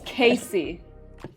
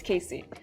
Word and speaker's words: Casey: 4 months in the family's like so was it Case or Cass? Casey or Cass? I don't even know. It's Casey. Guys, it's Casey.